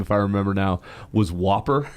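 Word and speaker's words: WOPR: be hurt or not because the way you pronounce that computer's name if I remember now was Whopper, right?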